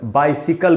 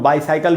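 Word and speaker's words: bicycle: और मैंने इसका उच्चारण लिख दिया यहाँ पर, बाइसिकल बोलना चाहिए इसको, क्योंकि इसको कई बार लोग बाईसाइकिल भी पढ़ देते हैं। तो बाईसाइकिल भी नहीं बोलना है इसको।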